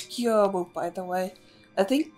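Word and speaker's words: Gyoubu: But usually when in Japanese it's, like, translated like that, usually the O-U back-to-back are meant to pronounce as long O.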